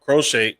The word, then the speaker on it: Crochet: Like you just mentioned, Crochet, that's how you pronounce his name.